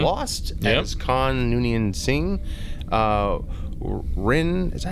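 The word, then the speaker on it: Rinn: Rin, is that how you say her name? Rin, yep.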